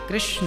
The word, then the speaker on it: कृष्ण: भगवान है, भगवान नारायण ही राम है और भगवान नारायण ही कृष्ण है। इसलिए हमारे यहाँ जो महामंत्र है उसमें दोनों का युगल नाम है, हरे राम राम राम हरे हरे, हरे कृष्णा कृष्णा कृष्णा, दोनों का नाम है।